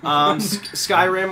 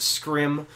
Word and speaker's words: Skyrim: Skyrim, or as my brain still thinks it should be pronounced, Scrim.